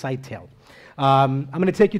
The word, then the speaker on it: Scytale: Not Scytale, not Scytale. There's a variety of ways that I'm sure you were looking at that word and trying to figure out how to pronounce it. It's pronounced Scytale.